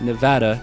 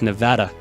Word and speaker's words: Nevada: And it's Nevada, for anybody who makes it to the end of this. Nevada Noiverns, not Nevada Noiverns. A little bit of education for you guys. It's Nevada. We pronounce Nevada.